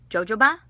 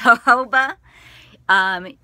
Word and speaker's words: jojoba: hobo oil in it also as some people pronounce it jojoba but it's her koba it's got the corundum in it you've got